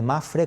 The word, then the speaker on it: MAPFRE: veces se habla de el nombre de Mafre con esa P que no se pronuncia en muchos mercados, en otros sí.